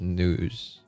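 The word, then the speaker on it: Nous: Is it Nose or is it News? Nose. I think it should be. My mind tells me it should be Nose. Nose the erudition. News. It's actually supposed to be pronounced news.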